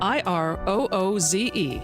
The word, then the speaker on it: IROOZE: IROOZE rhymes with schmooze, and leave a strong divorce legacy behind to your children.